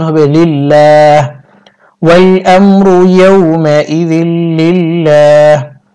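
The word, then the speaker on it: لله: লা ক্লিপ টানতে হবে লিল্লাহ আর এই আল্লাহ শব্দকে বারিক করতে হবে কারণ আল্লাহ শব্দের পূর্বে জের দেওয়া আছে হাজির হি লিল্লাহি ওয়াকফের সময় হা সাকিন হবে উচ্চারণ হবে লিল্লাহ ওয়াল আমরু ইয়াউমা ইদিল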